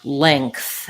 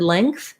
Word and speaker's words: length: pronunciation of the word length and whether i need to pronounce the g no you don't want to pronounce the g in the word length because the g is